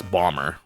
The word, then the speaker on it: Bomber: It's Bomber, right? We don't really pronounce the B there. Saturn Bomberman.